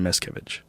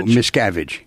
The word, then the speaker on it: Miscavige: So without further ado, please welcome Ron Miscavige.